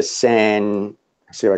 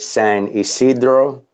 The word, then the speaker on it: San Ysidro: example of it actually they call it the San Siro I can pronounce it San Ysidro YS IDR oh yes it's a dream he